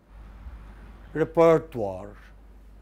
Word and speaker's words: repertoire: in linguistics we use this term can you pronounce it repertoire it comes from music you know like any